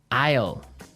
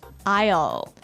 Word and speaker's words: aisle: spelled so strangely right we don't pronounce the S the S is silent that's true Isle so